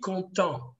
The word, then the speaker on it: content: And you say, guys, je suis content. What was the silent letter in content? T, sir.